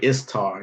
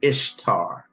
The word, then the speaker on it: Ishtar: Shaziga is how you pronounce that. And see, like right here is a perfect example. You don't say Istar, you say Ishtar.